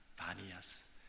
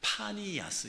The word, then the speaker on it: 바니아스: 이름은 뭐냐하면에 바니아스 있니다 바니아스 근데 그 바니아스 B 발음인데 원래는 피 발음이다 파니스 있니다 근데 그 파니스 판이라고 하는 신을 모신 도시다 판이라는 그 신을 섬기는 도시다 그래서 파니 아스입니다 그래서이 가이사라 빌립보는 판